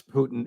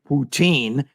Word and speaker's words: Putin: The first is, how do you pronounce Putin in Russian? Everybody assumes it's Putin, and that's why Ray McGovern says it that way. Is that correct, Ray? Well, it's the way I say Lenin or Stalin, Putin.